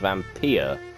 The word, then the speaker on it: Vampyr: new game series which I'm assuming is pronounced vampire cuz same vampire surely without why I refuse to believe that it's gotta be vampire at least that's what